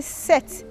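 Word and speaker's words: sept: The P is silent. You say set, not set.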